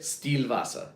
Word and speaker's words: Stillwasser: Stillwasser.